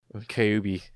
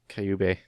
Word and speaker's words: Kyubey: Kyubey. Kyubey. Kyubey. It's like Cubase, but not quite.